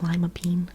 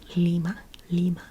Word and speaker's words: Lima: capital of Peru mhm Lima very good very good and it's kind of like lima bean but not pronounced lima bean lima lima and then next to